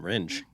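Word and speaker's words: Rindge: Ringe? Yes, in Ringe.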